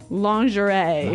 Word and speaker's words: lingerie: sexy underwear yeah now the spelling of this word is interesting isn't it yeah it's spelled l i n g e r i e lingerie lingerie yes don't you love English spellings so women's nice pretty